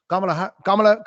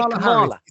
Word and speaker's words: Kamala: So Kamala is in.